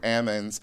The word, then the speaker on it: almonds: people from Arkansas and they all said Ammons for almonds for almonds and in